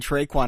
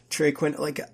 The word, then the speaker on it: Trey Quinn: I thought you were saying Traquan. I was like, dude, that's not how you pronounce it. Trey Quinn, I feel a little bit better about these Washington receivers with Colt McCoy in there.